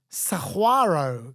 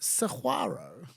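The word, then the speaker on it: saguaro: oh great the name comes from Spanish similarly Saro Cactus is pronounced Saro even know it's spell s a u a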